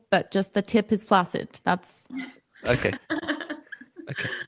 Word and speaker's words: flaccid: a regular Temple but just the tip is flacid that's okay okay right um can I tell you something it's actually actually pronounced flaid I learned this but it's even worse to